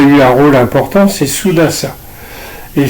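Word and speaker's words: Sudās: un rôle important c'est souasa et souasa qu'on dit qu'on appelle souas parce que de nos jours on prononce plus le le dernier a des des mots des mots de sanscrit euh souas c'est lui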